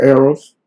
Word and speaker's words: Errol: is only one L as well e-r-r-o-l remember arrows yeah so and just like Arrow Flynn the